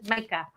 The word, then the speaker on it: Micah: Did we say it right? I am so sorry. Nope, he said Micah.